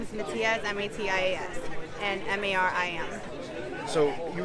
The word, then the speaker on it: Matias: Just your name and spell it for me. It's Miriam. Last name is Matias, M-A-T-I-A-S, and M-A-R-I-M.